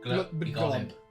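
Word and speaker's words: Gl'bgolyb: it, and the only to share it with Globoglob. Okay. A deep sea monster also known as the Rift's Carbuncle. Emissary to the horror terrors. That's how you pronounce that. Glub-begolib.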